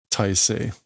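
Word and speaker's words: 態勢: Oh, this is going to be pronounced differently. It's going to be like Taisei.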